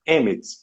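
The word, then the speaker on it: אמת: A palavra verdade em hebraico, a sua pronúncia é emet.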